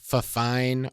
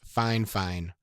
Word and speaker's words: Fifine: budget-friendly microphone options okay I know that their name looks like fafine or fifine but in my correspondence back and forth with them about their microphones they assured me the pronunciation is fine fine so don't give me